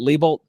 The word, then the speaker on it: Lebolt: like I know Jonathan lebolt am I pronouncing your last name correct is it lebolt incredibly you are pronouncing it correctly that is very rare